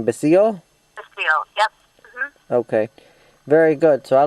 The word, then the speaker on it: Basile: catherine how do you say the last name basil okay very good so i look forward to